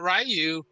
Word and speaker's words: Ryu: But then I got Ryu. I don't know. I always say Ryu.